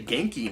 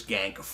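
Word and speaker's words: Ganke: here, and I guess I have to say Genki now, with this game anyway, because that's how it's pronounced here.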